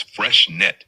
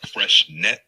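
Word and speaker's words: Freixenet: Freshenet is pronounced as fresh net in English. Fresh Spanish net. and Catalan it sounds more like fresh net with a soft T at the end.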